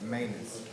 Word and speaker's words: Manos: Manos, and I'm mispronouncing it continuously, but it's Manios, 21 CF 777. How do you pronounce that? Manus. Manus. Manus? Manus. Okay.